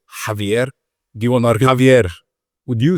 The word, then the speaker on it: Javier: Do you want to Javier? Would you say it? Javier. Do you pronounce the Javier? Javier. Roll the R.